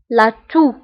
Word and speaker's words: la toux: سعال la toux la toux la toux. وانتبهوا بالنسبة لاتو كنكتبوها بإكس في آخر الكلمة ولكنها لا تنطق. لاتو.